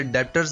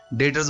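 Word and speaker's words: debtors: यहाँ आपको ध्यान रखना है कि बी वर्ड साइलेंट है, इसे डेप्टर्स नहीं डेटर्स बोलते हैं।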